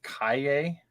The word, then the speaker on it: Kaye: First off, I feel the need to try my best to, as not assholishly as I can, say that I think her last name is pronounced Kaye.